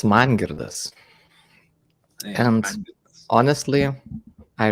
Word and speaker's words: Mangirdas: It's Mangirdas.